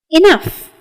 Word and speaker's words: enough: demolished enough sufficient adequate enough well the second syllable is pronounced as in love or stuff and sufficient are very